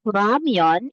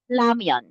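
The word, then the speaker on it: 라면: The first letter of ramyeon is real. So, it is interchangeably pronounced. So, you can use the word ramyeon as R, or you can also pronounce as lamyeon.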